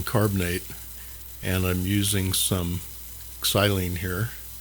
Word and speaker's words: xylene: This is just calcium carbonate, and I'm using some xylene here. That is the Greek pronunciation, to draw out any contaminants from those pads, those damaged pads.